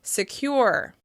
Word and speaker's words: secure: As you can hear, that first syllable is being reduced in order to focus attention on the second syllable.